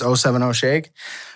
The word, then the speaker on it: 070 Shake: It's 070 Shake.